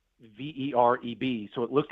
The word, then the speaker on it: Vereb: So the first thing to know is the governor and this person, and it is spelled V-E-R-E-B, so it looks like verb, but you pronounce it like verb, like noun and verb.